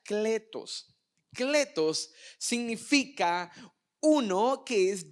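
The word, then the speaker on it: κλητός: La palabra llamado viene de una palabra griega que se pronuncia kletos.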